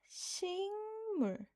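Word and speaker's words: 식물: Next, we have singmul. Singmul. Singmul. So, remember the correct spelling that ends with kieuk. It even though it sounds like sing, but it's correct spelling is sik.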